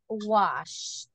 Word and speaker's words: washed: The pronunciation, washed.